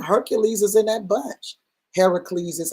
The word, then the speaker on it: Heracles: Heracles is how it's pronounced in the scripture.